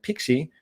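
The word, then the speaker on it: PKCE: the other that one as well anyway it's pronounced pixie but it's a proof code for key exchange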